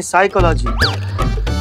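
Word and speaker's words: psychology: हैं पिसाई का लागी साइकोलॉजी नहीं साइकोलॉजी पी साइलेंट होता है तुम हो जाओ साइलेंट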